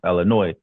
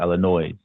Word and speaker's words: Illinois: in the state of Illinois. The S is supposed to be silent, but then the people who don't live there, they pronounce it Illinois.